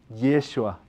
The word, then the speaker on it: Yeshua: latín y griego original su nombre se escribía yeshua y el sua y eso es la pronunciación original de ahora en arameo de jesús nosotros creo que somos